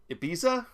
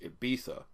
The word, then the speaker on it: Ibiza: and somewhere in Monaco Ibiza it's pronounced Ibiza Lex Luthor and Deathstroke